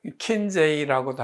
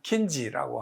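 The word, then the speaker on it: Kinsey: 킨지 보고서는 알프레드 킨제이라고도 하는데 그 사람들이 발음하기는 킨지라고 합니다.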